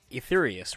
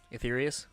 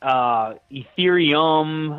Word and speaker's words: Etherius: And then just because I'm kind of a stickler for this, it is Etherius, right? Etherius?